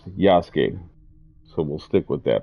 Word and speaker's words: Yasuke: This is my first time playing as um Yasuke. I was saying Yasuk, but I believe it's pronounced Yasuke.